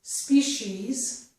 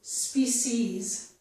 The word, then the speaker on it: species: This word has two pronunciations. It can be pronounced as species with the sh sound, and also as species with the s sound.